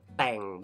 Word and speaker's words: แต่ง: feast and the word Tang means decorate but in this term it means to arrange especially to arrange a marriage it's pronounced with a low tone so means the event